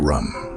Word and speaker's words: Ram: Ram into practice the seed Mantra Ram pronounced rum holds a special